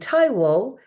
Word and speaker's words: Taiwo: it's b i s o n so it's pronounced bong and Taio is t a i wo so if you